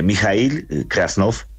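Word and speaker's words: Mijaíl Krasnov: krasnov Buenos días Hola Buenos días Cómo se pronuncia su su nombre y su apellido Eh mijail krasnov krasnov sí señor profesor krasnov Hace cuánto llegó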